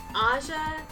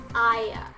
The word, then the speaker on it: Aya: when the mobian citizens get her name pronunciation wrong asha asia asia etc it's pronounced aya despite aya having horns